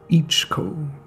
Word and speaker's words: iichiko: between nature and science ichigo pronounced ichiko derives from a dialect spoken in the okinawa prefecture of japan and translates to it's great so i've been saying ichiko wrong this entire time ichigo is a hongkaku